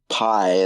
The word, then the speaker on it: Pai: Pie, like pie. Yeah. Like apple pie.